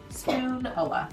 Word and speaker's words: Spoonula: The Spoonula, that's how I pronounce it. Spoonula.